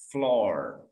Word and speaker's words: floor: Ada lagi misalkan yang double O tapi bacanya tidak A, malah bacanya O. Contohnya apa? Lantai. Bahasa Inggrisnya apa? Floor. Double O, tapi dia nggak baca U, nggak baca A, bacanya O.